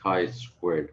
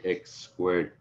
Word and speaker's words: chi squared: squared and it's pronounced chi squared guys so don't say x squared please this is basically the